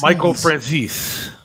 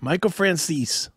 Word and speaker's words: Michael Franzese: Michael Franzese. Did I say it right this time or no? You did. Michael Franzese.